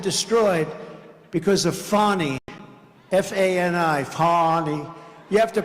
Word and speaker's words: Fani: F-A-N-I, Fani. You have to pronounce it Fani. It's called Fanny. You have to pronounce Fani. I don't know how she gets. She should add a little U in there someplace if she wants people to call her.